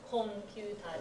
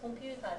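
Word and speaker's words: コンピューター: Make sure you pronounce コンピューターです. That's how it's pronounced in Japanese. コンピューターです.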